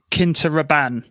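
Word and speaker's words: Quinta Ruban: I've heard it pronounced as Quinta Raban. That's how I've heard someone else pronounce it. So I wear Paco Rabanne, so that should be easy to remember. I put the emphasis on the first syllable and Reuben.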